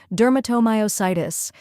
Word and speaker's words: dermatomyositis: step by step Duro think of dur like enduring then moo and finish